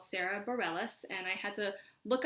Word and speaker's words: Sara Bareilles: is not how I predict it would be pronounced in France but it's her truth and so her name is Sara Bareilles and the song is a song called brave